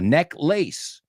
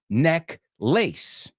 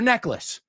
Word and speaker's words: necklace: How can you wear a necklace if you're necklace? So just be careful with the pronunciation. Even though the word lace is in there, a type of material, a type of fabric, it's pronounced necklace.